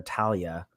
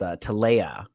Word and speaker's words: Talea: Because oh gosh, I have to say her name right because I kept calling her Talia, but her name is Talea.